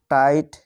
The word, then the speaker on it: tight: তারপর এখানে দেখো বাকি শব্দগুলিতেও একই রকম করে আই এর পরে GH রয়েছে, তাই এই শব্দগুলিতে GH এর উচ্চারণ হবে না।